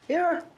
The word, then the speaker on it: Aaron: Aaron.